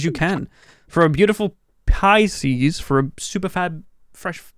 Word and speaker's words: Pisces: Right, let's do pieces. How do you say this? Pissies? Pieces? Yeah, new sublets are online. Pissies? Pieces? Pisces.